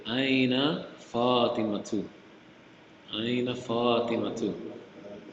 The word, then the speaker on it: Fatima: But here, I think because the ta is heavy, it's Fatima, right? Right? Fatima.